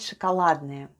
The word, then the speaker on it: шоколадное: Let's spell the word шоколадное. The first sound is sh, then goes o, it's unstressed and is pronounced as a.